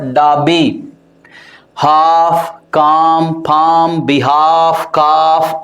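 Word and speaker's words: Derby: क्या है clock sergeant डाबी इट्स नॉट डर्बी इट is what डाबी half काम form बिहाव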